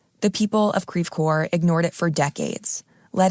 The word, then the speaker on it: Creve Coeur: town of Creve Coeur it's a French name but we pronounce it Creve Coeur that's Midwestern French today creepcore is mostly